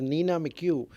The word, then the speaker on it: Nina McHugh: Her name is Nina McHugh.